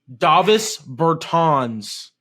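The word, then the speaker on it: Dāvis Bertāns: yeah yeah also guy like four months ago Davos Burtons again that's how you say his name I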